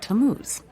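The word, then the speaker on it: Tammuz: his name is tamuse to what t-a-m-m-u-z it's pronounced tamuse maybe if you show me your evidence he'll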